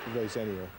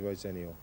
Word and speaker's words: Rosenior: Well, here's the definitive version. It's ROSENIOR, which is I-O-R. I know a lot of people have told me it's N-O-I-R, and I've had arguments about how to pronounce my own name, would you believe, over the years, but it's definitely ROSENIOR.